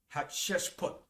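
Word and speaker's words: Hatshepsut: egypt she reserved that uh position her name is spelled h a t s h e p u t hat chest put okay and this was the one that found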